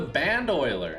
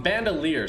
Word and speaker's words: bandolier: your time so we're going to do the band oiler actually let me actually go or bandolier sorry i always mispronounced that so bandolier here bandelier here okay